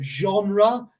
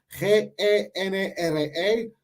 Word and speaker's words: genre: La verdad, en inglés general, británico, americano, lo que sea, usamos la palabra, creo que es francesa. So, genre, G-E-N-R-E, pero dice genre. Como creo que es francés y usamos la pronunciación francesa.